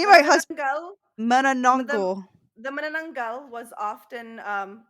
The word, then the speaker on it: manananggal: And it's pronounced manananggal. Thank you, beautiful. Because I banana is what it looks like to me with all the N's and A's.